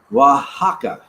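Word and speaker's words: Oaxaca: make it let me know let me know pronounced waka waka waka waka all right so what I'm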